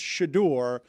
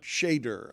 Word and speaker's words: Shedeur: So I will let you know it's Shedeur, not Shedeur. I will just let you know. What did I say? I was saying Shedeur.